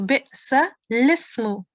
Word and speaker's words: بئس الاسم: الذي بئس So this is blank alif, and also this is also blank alif. Okay, so you will not pronounce them, these two. So bi'sa lismu.